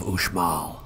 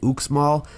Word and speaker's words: Uxmal: stop the site of the ancient city of OMA gringos like us have been known to say oops small but please keep in mind that in Mayan